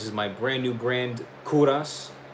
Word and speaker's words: Kovras: This is my brand new brand, Kuras. It's spelled K O V R A S. It's Kuras with a V where the U is supposed to be.